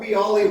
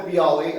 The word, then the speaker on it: Biale: bottle of bii Robert bii Winery if you have not been here in Napa Valley you're missing something um this is a David Natali um and he does does rhyme with bii I know that um